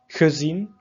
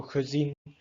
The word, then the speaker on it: gezien: So ge added to words. So let's say, for example, a verb. Can identify, okay, ge, it will be pronounced in a dof way. So gezien, not gezien.